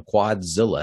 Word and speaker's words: Quadzilla: It is kind of long, you know, Quadzilla. That's three syllables.